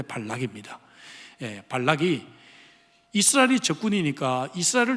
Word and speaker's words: 발락: 있습니다 모압 왕 발락이 발락이 자꾸 한국 발음이 좀 이상하죠 악으로 발음을 하는데 발락입니다 발락이 이스라엘이 적군이니까 이스라엘을